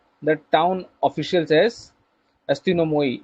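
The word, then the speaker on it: ἀστυνόμοι: He called the town officials as अस्तिनोमोई।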